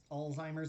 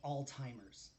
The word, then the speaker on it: Alzheimer's: we know that there's alzheimer's in the family uh and just like a fun fact it's not all timers that that is a it's a funny mispronunciation it's alzheimer's it's it's german uh pronunciation alzheimer's um uh i